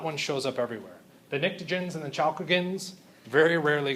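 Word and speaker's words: pnictogens: group 15 is the nicens the p is silent you ready on three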